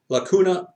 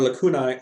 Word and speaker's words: lacuna: denominator sorry but the word is Lacuna okay and the plural is Laguna it may be mispronounced that you might hear it as is a different slightly different pronunciation pronunciation but it's Lacuna Lacuna or lacunai are gaps it literally